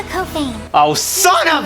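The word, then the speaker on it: Couffaine: And before you ask, yes, I did mispronounce Kafan in my Reflector review. Thank you, Olivia. Luka Kofane.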